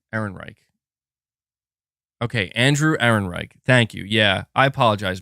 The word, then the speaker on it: Ehrenreich: Saying Ehrenreich. Is that how you say it? Ehrenreich? Okay, Ehrenreich. Hopefully that's correct. What did I say? Heinrich? Ehrenreich. Okay, Andrew Ehrenreich.